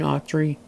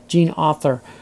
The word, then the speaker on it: Autry: The next one I did see a long time ago, and it's Gary Cooper and Gene Autry. No, Gene Autry.